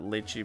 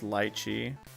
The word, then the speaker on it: lychee: By the way, it's not lychee berry, it's lychee. I pronounced it wrong.